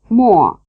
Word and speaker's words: mo: Listen and notice how they rhyme. Wo, luo, mo. So clearly that is not to be read as mo.